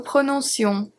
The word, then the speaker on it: prononcions: elle, on prononçait, nous prononcions, vous prononciez, il prononçait, elle prononçait. The only difference here is with nous and vous. Because the C is followed by an E, it turns into a S sound.